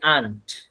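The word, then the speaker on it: aren't: I'm student হচ্ছে আই আন্ট। আই আন্ট a student আমি একজন ছাত্র না এইযে আন্ এখানে আর যে উচ্চারণটা আন্ আর উচ্চারণ বাদ আর উচ্চারণ করার দরকার নাই শুধু লিখাতে আসবে হ্যা এটা শুধু দেখতে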